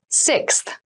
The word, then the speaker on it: sixth: Sixth. Sixth. Sixth. So sixth refers to the number 6 of something. This is a really good word to practice some pronunciation. Slow down that sixth, that middle part there.